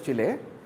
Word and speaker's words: Chile: It is pronounced as Chile.